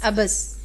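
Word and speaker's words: عبث: لفظ ہے ہمارے پاس ابس، عین پر زبر، بے پر زبر اور سے پر جزم ہے۔ جلوس، جیم پر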